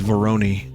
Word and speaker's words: Veroni: This is Veroni, which rhymes with jabroni.